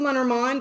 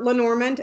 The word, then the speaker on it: Lenormand: house of Lenormand or say say it the right way because I always say it wrong look house of manor mind or Lenormand LP and oh are ma